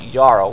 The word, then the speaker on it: jarl: pronounce the word as yarrow when there's a j would be like jarl you pronounce it like it's got a y yeah well i guess